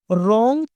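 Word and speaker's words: wrong: का टाइटल देखते हैं रंग थिंकिंग डब्लू से स्टार्ट होता है रंग बट साइलेंट मोड पर रहता है इसीलिए हम इसको आर से प्रोनाउंस करते हैं रंग थिंकिंग इसका मतलब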